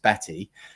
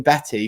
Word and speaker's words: Batte: i used to introduce her actually as batt from the daily mail for about two years until she finally told me despite semi-regular contact between the two of us that her name's actually pronounced betty um so it's batty from the daily